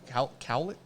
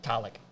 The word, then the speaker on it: cowlick: Cowlick? How do you say it? Colic. Cowlick. I have a fucking hell of a cowlick back there.